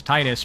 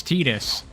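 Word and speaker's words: Tidus: his name is restar that is the correct pronunciation it's like Final Fantasy 10 where everyone thought his name was Titus but nope it's tetus deal with it have I played Rayman mini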